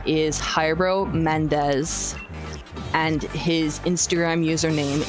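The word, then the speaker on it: Jairo: so he is um his name is hyro Mendes it is his first name is spelled j a i r o Mendes and if you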